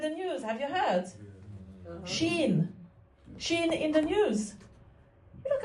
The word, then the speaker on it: Shein: Shein in the news. You look a bit. Oh, I know why. Because it's, maybe you call it Shine, because it's spelled Shein.